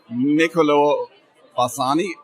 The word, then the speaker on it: Niccolò Bassani: So now I'm standing next to Niccolò Bassani. Am I pronouncing that correctly?